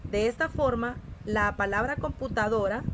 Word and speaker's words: computadora: De esta forma, la palabra computadora, la sílaba tónica, ¿cuál sería? Computadora. Muy bien, es una palabra grave.